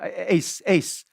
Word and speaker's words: Uys: sorry sir how how do you pronounce your surname i said ace like ace oh you you pronounce it ace and you write it uis i said yes it's